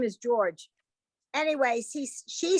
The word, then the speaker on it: Georg: But I'm always struck by that because in Hebrew, if you came to the name George, it would have to be Georg. Because there's no way to say J.